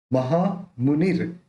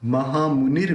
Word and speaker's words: महामौनी: महामुनिर, महामौनी, मौनी, मौ नहीं करना, मऊ करना, डबल मात्रा है ना ऊपर।